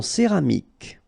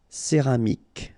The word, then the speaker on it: céramique: En céramique. Okay, so remember this Q-U-E here will give you the sound K. Okay, céramique, because you don't insist on the final E.